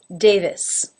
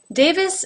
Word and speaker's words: Davis: brown brown number 6 Davis Davis has a second syllable this that begins with the V sound now when an unaccented